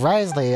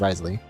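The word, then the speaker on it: Wriothesley: then after the train oh okay it's Risley at least how they pronounce name which I'm sure there's like a a better accent pronunciation to it but at least in English we can just say Risley getting just thinking about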